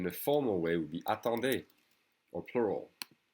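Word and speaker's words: attends: formal way would be a tande or plural the d and the s is silent and then the plural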